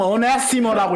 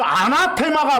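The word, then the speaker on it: ἀνάθεμα: 뭐 영어식으로 읽으면 어네시머라고 읽습니다만, 그냥 올레식으로 아람어식으로 아나테마 그랬어. 그 아나테마가 바로 저주받는다는 뜻이에요.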